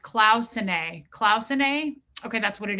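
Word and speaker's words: Cloisonné: Cloisonne is pronounced Clausenae.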